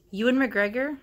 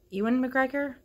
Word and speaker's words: Ewan McGregor: an adult and where things go it started you and McGregor dad I always say his name wrong Ewan McGregor I'm sorry for your for the Irish people